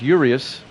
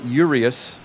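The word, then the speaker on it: Urías: fifth Julio uas will come up it's actually pronounced urius I was listening to the PA guy Julio urius Johnny Damon the center fielder will come up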